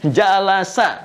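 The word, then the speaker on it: جلس: dari kata jalasa jalasa jalasa bacanya pakai bahasa Arab ya jangan pakai bahasa Inggris jealous gitu jalasa ya jalasa apa artin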